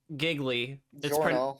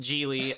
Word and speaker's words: Gigli: So, Jiglo is about it is about a man named Larry Giggley. It's pronounced Jely.